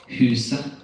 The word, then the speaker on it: huset: When you see the letters ET in Norwegian, the T may be silent. And some examples of that are huset, huset, det, uke, uke.